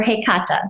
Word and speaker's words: Hekate: you connect with so i strongly align with hekate or hey kata that's how she actually pronounces it for me so i know it's not necessarily the the mainstream pronunciation of hecate but that would be